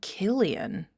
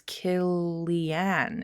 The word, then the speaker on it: Cillian: Oh, Killian with a hard C. So it's Killian. It's Irish.